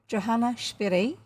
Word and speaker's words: Johanna Spyri: we are reading heidi by johannesbury apparently that's the german and swiss way to say her name and we are reading